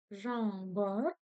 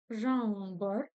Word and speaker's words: Жаңбыр: Жаңбыр. Жаңбыр. Вспоминаем английский язык. N плюс G. И у нас получается английская буква. И у нас получается казахская буква Н с хвостиком.